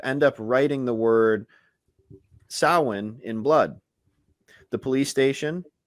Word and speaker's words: Samhain: it wrong and says samhain in the film which is how you would think it's pronounced but it is a celtic word so it's pronounced samhain not sure how the